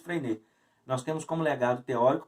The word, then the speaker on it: Freinet: Mas nós temos como legado teórico, por exemplo, de Freinet, escreve-se Freinet, né? Mas pronuncia-se Freinet.